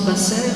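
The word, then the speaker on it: בשר: tout à l'heure et ce mot Bassard si je le prononce Basser puisqu'il n'y a pas de de vOYEL en hébreu c'est l'information et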